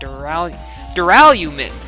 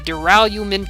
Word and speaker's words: duralumin: And all the confiscated dangerous items were supposed to be placed in that duralumin. I looked it up. That's how you pronounce it. The duralumin case.